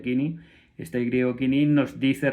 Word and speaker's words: koiné: griego koiné o kini, koiné se escribe y por lo visto se pronuncia kini, este griego kini nos